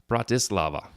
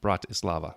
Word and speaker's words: Bratislava: capital in your connection with word camp your pronunciation was almost right so yeah I probably called it Bratislava its Bratislava so I looked it up Bratislava brought Islam okay so a great question in